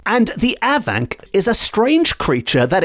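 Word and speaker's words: afanc: being home to an aank monster and that's aank spelled a f n c with the F pronounced as a v in the Welsh language and the aank is a strange creature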